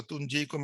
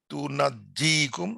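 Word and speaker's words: تُنَجِّيكُم: তুনাজ্জিকুম মিন আযাবিন আলিম অথবা তুনজিকুম মিন আযাবিন আলিম, বানানটা same same, এখানে একটা জের জবর করলে একটু চেঞ্জ হয়ে গেছে। তুনাজ্জিকুম আর তুনজিকুম, দুটো উচ্চারণ আছে এখানে।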